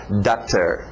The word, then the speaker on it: daughter: Nós vamos ver como fazer isso ainda nesse curso, falar da garganta, aí sim vai virar water e daughter, mas por enquanto deixa na boca daughter, okay? Daughter, daughter. Outra também observação sobre o